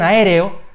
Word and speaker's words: aéreo: tilde y en aéreo en aéreo tenemos cuatro sílabas a&r o es una palabra esdrújula porque el golpe de voz recae en la tercera sílaba contando desde el final y por tanto tiene tilde 52 y atos formados